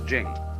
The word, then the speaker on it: Ching: be pronounced Ching but it's Jing like a j and so Jing in